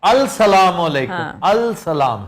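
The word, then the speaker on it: السلام: scene अस्सलाम अलैकुम जी तरह साइलेंट ल है अस्सलाम है अस्सलाम बोला अस्सलाम जाएगा एक साइलेंट है लेकिन लिखा जाएगा अलसलामू अलिका अस्सलाम आपका सलाम वह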